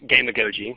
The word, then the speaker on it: gamagogy: So our coined phrase for that is gamagogy, in case you're wondering how that ridiculous word is pronounced. Gamagogy being game-based pedagogy. So simply marrying the best